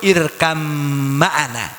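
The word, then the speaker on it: ارْكَب مَعَنَا: Karena pengucapan tajwid harus benar-benar tepat, idgham dicampur dengan 'irkam maana '. Meskipun itu adalah 'irkab maana'.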